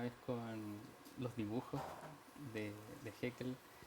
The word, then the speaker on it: Haeckel: Muy bien, Oscar, hay un autor interesante, quiero pronunciarlo bien, Haeckel, ¿no es cierto? ¿Está bien o no? Sí, Haeckel.